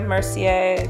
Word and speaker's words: Mercier: And then I use a Mercier, that's how you pronounce it, setting powder to bake a little bit underneath my eyes because I crease like nobody's business.